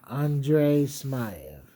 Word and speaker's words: Andrey Smaev: Oh yeah, Andre Smay.